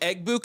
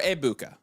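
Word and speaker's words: Egbuka: Is it egg buoua or ebuka? Is silent g since when? Eggbuka.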